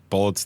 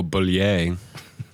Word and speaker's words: Bulleit: Bullet's the actual brand name on there? Yeah, it's Bulleit. Oh, Bullier. It's pronounced Bullet.